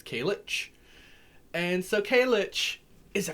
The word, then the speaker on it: Cailleach: this day to uh kalitch or colic or caliec or calic she's got a lot of pronunciations of her name the modern day i think pronunciation if i'm correct is kalitch and so kaylich is